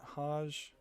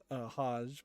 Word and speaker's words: Hajj: __ ] tours which maybe you pronounce that Hajj yeah I think it's Hajj that's how you pronounce it the Hajj is um